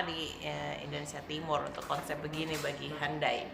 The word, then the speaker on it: Hyundai: Indonesia timur konsep begini-begini andai andai bacanya Hyundai Saya tidak cuman Tokai